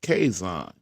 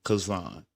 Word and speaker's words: Kaison: Again, my name is Kaison, pronounced Kaison, not Kazan.